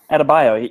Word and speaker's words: Adebayo: I think it was Bam how do you say his last name? Adebayo? Yep, that's right. Adebayo.